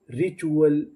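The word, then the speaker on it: ritual: आर आई री टी यू एल चुल। रिचुअल रिचुअल। रिचुअल का मतलब होता है प्रथा।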